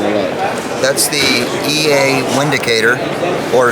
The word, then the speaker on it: Windicator: That's the EA Windicator, or Vindicator. It's made in Germany. The W is pronounced like a V.